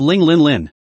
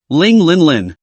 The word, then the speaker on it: Ling Linlin: be a dog brother Ling Lin Lin on the other hand because the name is pronounced like the Arabic number 0000 coupled with a well-developed